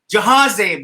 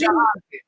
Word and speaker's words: Jahanzeb: It's not Jahanzeb. It's J-A. I'm sorry. It's Jahanzeb. मेरी dyslexia थोड़ी सी है, सबको पता चल गई है.